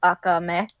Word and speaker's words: Akame: uh uh i'm sorry the actual japanese pronunciation pronunciation i think would be akame because of the fact that like akame you put more emphasis on the last syllable so you're american is